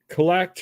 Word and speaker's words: CLLCT: Per Collect, which is spelled CLLCT, which is the Darnerville site.